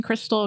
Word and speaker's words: Kristal: y s a l it's pronounced like the meth but spelled like a stripper so it's easy to